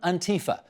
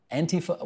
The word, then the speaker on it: Antifa: Antifa, Antifa, Antifa. What do you say? The Europeans say Antifa, but language evolves. People are saying Antifa.